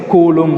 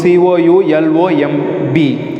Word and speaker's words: coulomb: is that pronunciation is column not column the pronunciation is coulomb c o u l o m b coulomb okay the s unit of electric charges